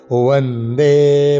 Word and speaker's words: বন্দে: রত্নাঢ্যাম বন্দে বন্দে ওয়া এটা অন্তস্থ ব আছে আছে দুই প্রকার বলোকে মনে রাখতে হবে একটা অন্তস্থ আরেকটা বর্গীয় বখানে আমরা অন্তস্থ বের উচ্চারণ করব বন্দে ভারত মাতারম বন্দে ভা